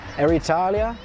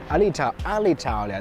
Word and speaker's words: Alitalia: Air Italia? Alitalia.